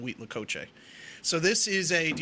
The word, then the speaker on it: huitlacoche: oh is that I'm totally good yeah it's huitlacoche week huitlacoche alright it's typically a corn fungus that grows